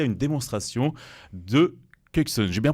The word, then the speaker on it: Kexin: Alors, on a assisté à une démonstration de Kuksun. J'ai bien prononcé ?